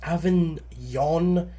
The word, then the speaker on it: Avignon: Avignon, I looked up a pronunciation, I think it's Avignon, France.